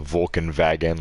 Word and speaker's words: Volkswagen: or something like that Volkswagen is like the Vulcan wagon like we're totally saying it wrong um BMW they say